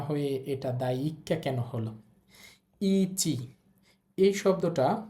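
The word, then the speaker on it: だいいっか: এরপরে আবার একটা ই আছে দেখেন এখানে দুইটা ই থাকার কারণে দ্বিতীয় ইটা উচ্চারণ হবে না প্রথম ইটা আমরা একটু টেনে বলব তাহলেই হবে তারপরে ছোট সু আছে এটা বাদ যাবে আমরা জানি ছোট সু থাকলে পরের বর্ণের উচ্চারণ ডাবল হয় তাহলে পরের বর্ণ কা আছে ওটা কয় আকার হবে উচ্চারণ হবে দায়কা দায়কা অর্থ হচ্ছে অধ্যায়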